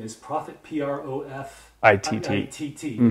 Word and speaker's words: Profitt: and your last name is Profitt, P-R-O-F-I-T-T. I-T-T. Mm-hmm. It's pronounced Profitt.